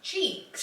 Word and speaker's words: Cheex: Cheeks. Cheeks. Like bum cheeks.